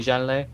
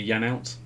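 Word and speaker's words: Janelt: without joanne whisser vitale janelle shandon batiste you liking these pronunciations i have already noticed is actually yan out well that's how the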